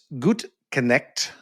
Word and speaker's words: Gutknecht: Uh joining me today, Beatatric Gut Connect with Badassory by B. Did I pronounce that correctly?